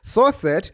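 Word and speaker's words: srcset: screen sizes and can need different image sizes souret yes that's how it's pronounced fight me is an attribute that allows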